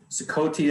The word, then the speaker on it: Ciccolte: Ciccolte, as Heather had said, but I hear all different pronunciations.